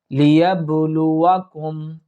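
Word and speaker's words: لِيَبْلُوَكُمْ: এখানে ইয়াতে এক আলিফ আমরা টানবো বাকিগুলো দ্রুত উচ্চারণ করার চেষ্টা করব লিয়াবলুয়াকুম লিয়াবলুয়াকুম এখানে দেখুন ইয়া বা জবর ইয়াব অর্থাৎ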